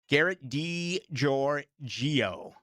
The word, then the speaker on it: Garrett DiGiorgio: Garrett DiGiorgio is how you say it.